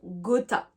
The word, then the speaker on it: gotta: Du coup, donc pour contracter have got to, eh bien, je vais dire gotta. Ou alors même got to, la contraction, c'est gotta.